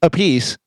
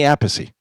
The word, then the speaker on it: Appice: They say their name, their own last name, the brothers both pronounce it differently. Carmine Appice, Vinny Appice.